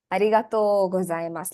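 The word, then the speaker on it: ありがとうございます: So to sign off, arigatou gozaimasu. Let me put that in chat so you all know what the pronunciation is.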